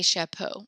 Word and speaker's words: chapeaux: So chapeau becomes des chapeaux, and they sound the exact same. There's an X on it. No, you do not pronounce the X. It's absolutely not.